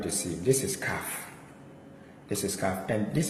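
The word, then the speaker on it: כ: Then we have this is kaf. Kaf, as you can see, the dagesh here is pronounced as kaf.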